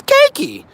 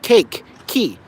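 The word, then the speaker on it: Keiki: you guys can pronounce cakey cakey it's so easy like cake key cakey cakey k-e-i-k-i what's so hard about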